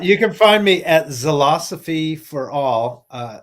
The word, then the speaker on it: Zilosophy: You can find me at Zilosophy for All. It's spelled like philosophy, but with a Z.